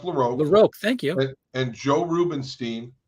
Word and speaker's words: LaRocque: Greg larocque Greg laroque it's pronounced laroque thank you and Joe